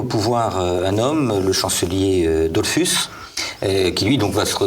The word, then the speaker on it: Dollfuss: Et donc Dollfuss, je le prononce à l'allemande. Oui, j'en prie, mais moi je prononce les mots autrichiens à l'allemande, mais c'est normal.